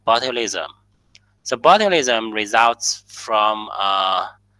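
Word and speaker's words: botulism: disease it cause is cause is sound like bilism.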